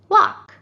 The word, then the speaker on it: walk: and talk and walk did you guess that it's the silent l good job these two